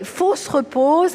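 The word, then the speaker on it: Fosse-Repose: fo se repose alors c'est un nom curieux ça s'écrit fausses comme faux ce qui n'est pas vrai et repose mais à l'oreille pour nous français on entend fausse la fosse la tombe 1 et repose et il ya quelque chose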